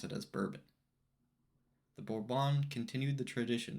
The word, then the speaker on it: Bourbon: the French Quarter of New Orleans though we pronounce it as bourbon the borbon continued the tradition of doing out